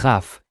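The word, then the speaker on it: ך: Remember that, at the end of a word, Kaf is always pronounced as Chaf, and Peh is always pronounced as Fe.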